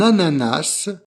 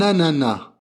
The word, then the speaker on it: ananas: le trouves voilà ici un ananas ou un ananas il y a deux possibilités de prononciation avec le S ou sans le S voilà le premier dans